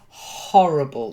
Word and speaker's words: horrible: so the first word horrible you've got to aspirate a bit horrible horrible that's it's not